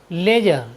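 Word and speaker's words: ledger: बाद जी आया है इसलिए हमने डी का उच्चारण नहीं किया है हमारा नेक्स्ट वर्ड मीनिंग है एल ई डी जीई आर लेजर लेजर means होता है खाता बही और हमारा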